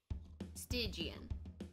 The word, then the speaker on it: Stygian: Stygian.